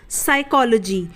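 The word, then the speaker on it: psychology: है और जब भी पी के बाद एस आएगा तो वो पी क्या हो जाएगा साइलेंट हो जाएगा यानी की पी नहीं बोला जाएगा तो इसे हम साइकोलॉजी पढ़ते हैं यहां पर पी साइलेंट रहता है देख लेते हैं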